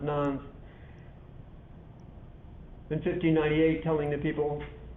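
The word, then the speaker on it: Nantes: an edict called the edict of non-nons it's pronounced nones in 1598 telling the people stop running around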